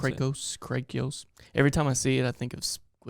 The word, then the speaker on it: Krakoa: And it's interesting how this whole, I guess it's Krakoa is how you pronounce it. Krakoa.